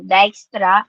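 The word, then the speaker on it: Dijkstra: link state diestra algorithm so dtra is spell as dij ks so dextra algorithm kaya i look for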